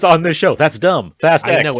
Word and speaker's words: Fast X: Fast X.